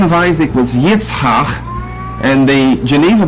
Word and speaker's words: Isaac: However, for the KJV, we have I-S-A-A-C that we pronounce Isaac in both the Old and the New Testament.